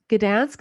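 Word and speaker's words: Gdańsk: you have is you have the mayor of Gdansk is that how you pronounce it yeah so he was a lady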